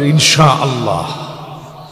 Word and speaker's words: ইনশা আল্লাহ: ইনশাল্লাহর উচ্চারণটা আবার ঠিক হয়েছিল, ইনশা আল্লাহ উঠায় দিবে।